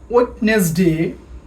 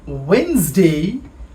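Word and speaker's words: Wednesday: করে খেয়াল করি টিউসডে আগে আমরা বলতাম ওয়েটনেসডে বাট ইটশুডবি ওয়েনসডে উচ্চারণটা আরো ভালো করে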